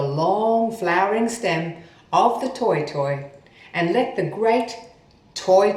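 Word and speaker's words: toetoe: grass in new zealand pronounced toy but the proper spelling is t.o.e so toy toy or t.o.e toy toy the toy toy was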